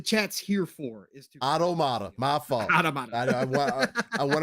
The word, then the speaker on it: Automata: I didn't say Automata. He wants you to say it like automata. Automata. My fault. Yeah, I say it automata.